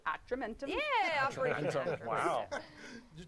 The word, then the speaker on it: Atramentum: How do you pronounce that? Operation Atramentum? Atramentum.